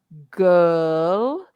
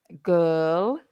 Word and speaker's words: girl: you go uh uh and that that sound is in h it's in her not his but her and it's also in girl girl g i r l and it's also in world around the world so it's a tricky